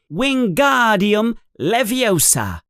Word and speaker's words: Wingardium Leviosa: You're saying it wrong, says Hermione in an impatient voice. It's wingardium leviosa. You emphasize the gar.